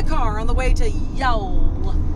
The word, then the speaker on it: Youghal: blue in the car on the way to Yol y I know that's how they told no